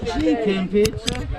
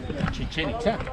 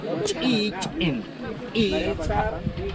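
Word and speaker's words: Chichén Itzá: In Spanish, it sounds like this, Chichen Itza. But remember, this name is not in Spanish, it's in Mayan language. And the real pronunciation in the Mayan language is this one. Listen. Chichen Itza. Chichen Itza.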